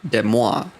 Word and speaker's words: Des Moines: It's like I could forgive, like, okay, so technically it should be Des Moines, right?